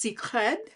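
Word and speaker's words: Cécred: right um so beyon I think it's pronounced secred is in like sacred Hair by Beyonce details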